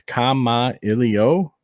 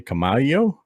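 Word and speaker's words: Kamailio: all right so here I've written out how you can pronounce k ILO and it's Kama ILO a lot of people also say kamalo it's a Hawaiian word that means to communicate and there you go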